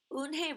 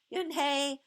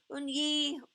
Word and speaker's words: Unhei: Everyone tried to say it. Unhei, Unyi, Unhei. Unhai said her name again slowly and clearly. Soon the kids began to say it better.